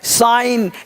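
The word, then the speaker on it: sign: देख का रहे हैं साइन यहां पे जी साइलेंट है रेन शासन तो रेन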